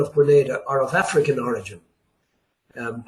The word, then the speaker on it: Grenada: the name of Grenada G re n a DA not pronounced Granada but Grenada the French were the